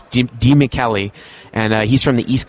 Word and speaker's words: DiMichele: And it took me a long time to pronounce that. It's not DiMichele, it's DiMichele.